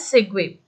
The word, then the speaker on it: segue: Okay, you can that you can pronounce it as segue.